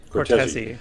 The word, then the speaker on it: Cortese: Am I pronouncing that right, or is it Cortez? That is right. Cortese, yes.